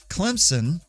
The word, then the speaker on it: Clemson: it right right also if it's someone's name that has been transformed into to the name of a town for example like clemson you should not add a z just a little language